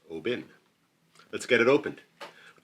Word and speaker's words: Oban: I believe to be offshore from roughly in the neighborhood of Oban, which I think is actually pronounced Obin.